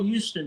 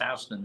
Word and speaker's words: Houston: they look at the sign they go oh Houston Street it's pronounced Houston in New York spelled the same but that's